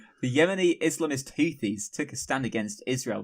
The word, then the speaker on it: Houthis: we should do just for a record it's pronounced houes H the yemeni islamist hoies took a stand against Israel recently this at